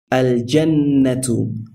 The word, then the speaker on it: الجنة: So when we pronounce this word, we pronounce the al clearly, and we do not assimilate the lam into the jean.